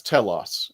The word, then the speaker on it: Telos: No, it's Telos.